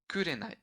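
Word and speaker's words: 紅: We say ko Chinese reading. In fact, Mm-hmm. that's true. But like alone, it's pronounced as kurenai. Oh right, the Kurenai.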